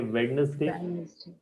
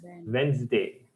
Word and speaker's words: Wednesday: I mentioned over here so next time we hear someone say wednessday it's Wednesday smart Wednesday I'll surely